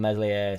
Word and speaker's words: Meslier: I think what's happened is we've dropped the ball ever so slightly, so I don't mean Meslier Silent S style, but I think we've